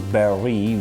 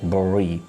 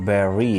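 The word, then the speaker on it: bury: is oftenly mispronounced like bori when someone dies and we dig a grave and put the man under the ground correct pronunciation of the word is barry not burry we have another word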